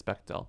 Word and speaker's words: Bechdel: Yeah, but it's That's spelled pretty funny. differently, Okay. but still, it's Bechdel.